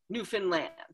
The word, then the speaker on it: Newfoundland: And they to a person they say, "Understand Newfoundland."